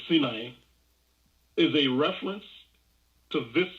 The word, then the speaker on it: Sinai: So the Sin, the Sumerian moon god, in Sinai, Americans say Sinai, but it's not, this is Sinai, is a reference to this son of Enlil from the Sumerian mythology.